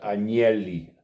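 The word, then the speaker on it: Agnelli: ejemplo italiano de la familia arneli se pronuncia anieli adonelli angeli el fundador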